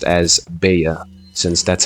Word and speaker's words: Bella: inside the name, but in Spanish, when there's 2 L's together, they make a Y sound, so they would be pronounced as Bea, since that's how you pretty much spell it and also pronounce it.